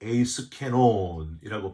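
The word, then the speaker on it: εἰς κενόν: 여기 나오는 이 헛되이라는 단어가 헬라어로 에이스케논이라고 발음하는데 아무 소용이 없는, 도무지 쓸모가 없는 이란 뜻이 바로 이 에이스케논에 담겨져 있습니다.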